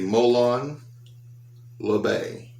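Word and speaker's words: Molon labe: telling y'all right now this is the molan la bay or in the south mulan lobby molan milan la bay it is latin it is from king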